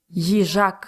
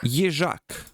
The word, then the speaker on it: Їжак: Їжак. Їжак. Okay, let's say it together now, okay? Їжак. All right, let's go. Їжак.